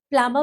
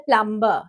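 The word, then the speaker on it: plumber: Ninth प्लमर बुला लिया क्या? प्लमर बुलाया क्या? यूजली हम लोग बोलते हैं प्लमबर। इट इज नॉट प्लमबर। B silent है इसमें।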